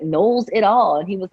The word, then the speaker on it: Knowles: phone asking for Canoles and I was like I can't believe they all they always mispronounced my name it's so easy it's nulls like Knowles it all and he